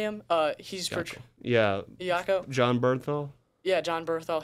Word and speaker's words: Iacocca: He's Iacocca.